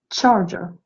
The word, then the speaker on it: charger: Alors, notez bien, je dis charger, et note charger. Charger. CH se prononce cha.